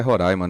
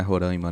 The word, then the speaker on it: Roraima: fizessem parte do Brasil Lembrando que é Roraima né Roraima né gente é Roraima pelo amor de Deus não mas assim é porque eu até entendo né A questão linguística a pronúncia quem vem de lá de baixo acaba falando ror não mas já tá